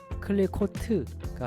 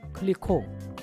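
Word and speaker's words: Clicquot: 브랜드 명이 적혀 있고요 프랑스어는 맨 끝 자음을 발음하지 않기 때문에로 끝나지만 클리트가 아니고 클리라 읽으시면 됩니다 보시면 배브 클리코 와인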